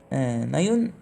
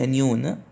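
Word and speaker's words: anion: مش كاتيون لا كاتون اللي هو الانون انون مش انيون انون ماشي طيب هو ده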